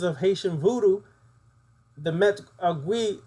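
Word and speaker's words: Agwe: In the certain traditions of Haitian voodoo, the met agui, or which is similar to agua, is just said differently in Creole.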